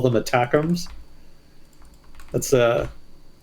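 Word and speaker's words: ATACMS: think people call them attacks that's a it's it feels like a weird way to pronounce that acronym but I guess that's what it's supposed to be called attacks are the Army tactical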